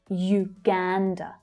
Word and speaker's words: Uganda: We have that Y sound there. Uganda. The second syllable is stressed.